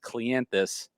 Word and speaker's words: Cleanthes: likes that because his last name is actually pronounced clientus but let me tell you it's not an